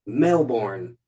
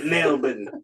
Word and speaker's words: Melbourne: Melbourne, Australia. Oh, yeah, that's how you say it. Melbourne.